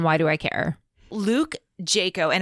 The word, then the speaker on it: Jaco: care luke jayco and i don't know if i'm saying his last name correctly it's j-a-c-o i suppose it could be jack-o i'm not sure how it's pronounced in the area i'm going to call him jayco luke jaco's life was